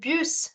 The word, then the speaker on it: bus: say it as with this bus in French is called buuse instead of saying Bu you're saying buuse similarly you have another